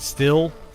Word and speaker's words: STIHL: However you pronounce that. Still.